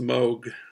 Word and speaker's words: Moog: I thought it was Moog, but I was on YouTube and I found out I think it's pronounced Moog.